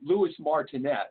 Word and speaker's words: Louis Martinet: many talents yes named now I'm going to anglicized pronunciation I'm not sure I'm not sure how exactly you would pronounce it louis martinet would be the the anglicized way of pronouncing it who was I suppose